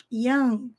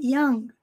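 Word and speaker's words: young: um jovem estudante italo-americano Yang nós mal pronunciamos o g Yang Yang é só um sonzinho bem breve na garganta Italian o n Sempre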